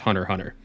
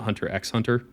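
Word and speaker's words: Hunter × Hunter: getting me to watch Hunter Hunter. That is how you pronounce it, right? It's not Hunter X Hunter. Yes, it is Hunter Hunter.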